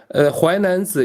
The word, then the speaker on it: 淮南子: It is 淮南子 is a pronunciation in Mandarin, and okay.